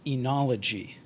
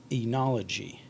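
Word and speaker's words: oenology: the day for today february 23 2022 is enology enology it's a noun and it means the science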